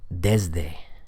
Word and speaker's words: desde: Like take a word like desde, desde, D-E-S-D-E. The S there is being voiced in my pronunciation, desde.